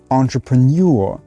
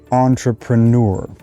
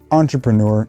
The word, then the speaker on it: entrepreneur: in american english and you might have heard entrepreneur which is more of a british pronunciation now the most common accepted pronunciation of this word is on just like on off tr nur entrepreneur now as a speaker of french myself i